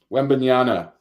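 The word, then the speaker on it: Wembanyama: total wins okay so uh how do you pronounce wimby's last name wendbanyana okay so I'll give you a preview here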